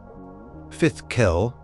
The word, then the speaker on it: fidchell: This was Fitchell, pronounced something like Fifth Kell, a game whispered about in epic sagas and heroic tales often played by legendary kings and warriors.